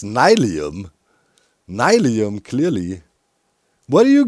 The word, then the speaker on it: nylium: I believe it's Nilium, kick back and chillium, Nilium, come get your fillium, Nilium, ba-dum.